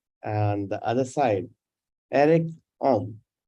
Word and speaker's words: Oehm: And the other side, Erik Oehm. Right, Eric? Did I pronounce it right?